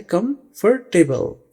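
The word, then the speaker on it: comfortable: लेकिन इसमें यह वाला ओ प्रोनाउंस नहीं किया जाता। तो यह बन जाता है कंफर्टेबल। कंफर्टेबल। ठीक है? आपने बोलते वक्त ध्यान रखना है कि आपने इस ओ को प्रोनाउंस नहीं करना।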